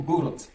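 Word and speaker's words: город: Dans le mot gorot Gorot Gorot le D ici se prononce Tout simplement parce que le D c'est assourdi en T.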